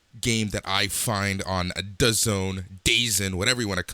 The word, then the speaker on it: DAZN: the afternoon, the game that I find on DAZN, whatever you want to call it. It's pronounced DAZN.